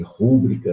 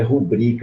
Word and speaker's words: rubrica: O pessoal muito faz aí, rúbrica, né? O nome é rubrica, é uma paroxítona e não uma proparoxítona.